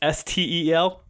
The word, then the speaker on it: Stel: Another fun one, Steel, pronounced Stel, is a robot.